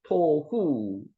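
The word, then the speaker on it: תֹהוּ: 토후, 토후, 혼돈, 폼레스, 형태가 없는 거.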